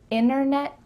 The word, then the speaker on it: internet: Internet, winner. Yeah, we're cutting out that T, especially when there's an NT in the middle of a word.